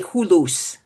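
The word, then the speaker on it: hulusi: Oh, when you ask the name of this instrument is a it's called it's spelled like that, but it's called a hulus.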